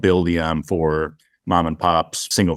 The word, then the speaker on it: Buildium: what was that buildium buildium yes can you spell that for the listeners please sure yeah it's b-u-i-l-d-i-u-m so like build and then ium you know it's it's